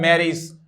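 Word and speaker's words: marriage: ठीक है, AGE और मित्रों EG, दोस्तों दोनों का ही प्रोनाउंसिएशन एज नहीं होगा, इज होगा। ठीक है, जरा देखिएगा, मैरी से एक शब्द बना है मैरिज।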